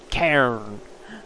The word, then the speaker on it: cairn: from Eddie J, it is an Irish word, so it's an A sound. So, Cairn? Cairn? Is that about right? Cairn.